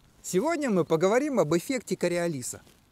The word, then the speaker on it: Кориолис: математика инженера гаспара гюстава кориолиса и поскольку он был французом правильное ударение ставится на последний слог его фамилии к realise опыта на